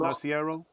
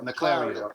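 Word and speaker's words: Naclerio: the stuff I saw, This is you know, I've Ron seen, Narciero. huh? Narciero? How do you say his name? Naclario.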